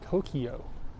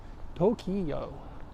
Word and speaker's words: Tokyo: where is Eric ER is Tokyo is that how you say it in English Tokyo Tokyo that's another one that has the long vowels that just get stripped out too to but then